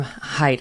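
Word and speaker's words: Haidt: we just interviewed jonathan hate on the program height it's spelled hate but it's pronounced height um and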